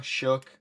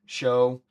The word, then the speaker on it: Shough: That's like Tyler Shuh. Do people say Shuh, Shook, Show? It's spelled like Shough or whatever. Why the hell would it be Shook? But Show. that's what I say.